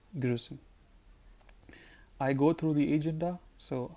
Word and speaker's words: Agenda: Agenda, the word is the same in German, but pronunciation is different. So it is agenda, and it is die Agenda.